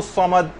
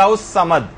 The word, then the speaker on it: الصمد: اچھا، اسی طرح سے غلطی اس کے اندر یہ ہوتی ہے اللہ الصمد، صاد کی آواز یہ صحیح طور پر نکلنی چاہیے. لوگ سین کی آواز نکالتے ہیں اللہ الصمد.